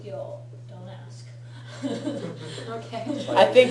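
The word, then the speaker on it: 行: Okay, the columns that share a consonant or lack of one are called gyo, which is actually written with the same kanji that you know for iku, but it's pronounced gyo.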